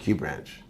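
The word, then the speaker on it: QxBranch: of Q branch and it's spelled QX branch but it's pronounced Q branch that's right XO solid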